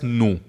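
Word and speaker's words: nous: मैं इंग्लिश केवी को फ्रेंच में न्यू कहते हैं एन ओ यू एस न्यू यहां पर प्रेस साइलेंट है और दूसरी सीखने की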